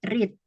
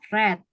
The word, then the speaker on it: read: yang berubah berbeda-beda ya Jadi yang pertama read yang kedua red yang ketiga red ya caranya bacanya gitu ya jadi beda-beda dan ini